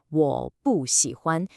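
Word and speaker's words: 我不喜欢: It stays as a fourth tone. So the correct pronunciation is 我不喜欢.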